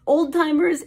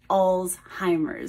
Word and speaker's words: Alzheimer: understand that but old oldtimers it is not it is Alzheimer the form of dementia